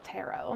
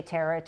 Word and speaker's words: tarot: us first of all how how do you pronounce it it's called tarot tarot because I know some people say turret or tarot or whoever so uh please tell